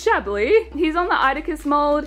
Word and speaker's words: Chablis: I used to pronounce it as Chablis because I had no idea that the S was silent, so This is Chablis.